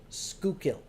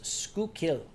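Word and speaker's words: Schuylkill: that came up there it's pronounced skukil at least in Philadelphia they refer to that word the river the expressway as skukil in Dutch it is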